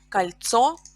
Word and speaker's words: кольцо: Pay attention that the stress also is changed in plural. So, кольцо. We have о, the final о is stressed in singular, but in plural, кольца, the first syllable is stressed.